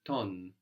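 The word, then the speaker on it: τον: I I'm inviting you the word for him is ton ton ton ton that's spelled with a t an O and how do we get that n sound from a v from a v good the letter looks like V so that means him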